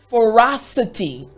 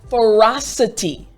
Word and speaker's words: ferocity: So the entire word after me is ferocity. Excellent. Again, ferocity.